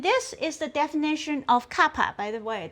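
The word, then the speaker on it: kappa: And this is the definition of kapa by the way. This little k pronounced kapa and which stands for curvature.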